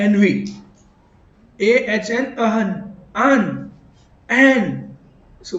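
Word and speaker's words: ennui: N V spelling है ENUI, spelling अलग है बिल्कुल।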